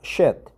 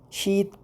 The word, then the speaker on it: sheet: Not shit, but sheet pan.